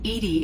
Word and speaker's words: EDI: why are you named Edie Edie is the phonetic pronunciation of EDI that is an acronym